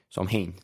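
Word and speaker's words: Samhain: tenían una festividad antigua llamada samhaim samhein pronuncian ellos que marcaba el final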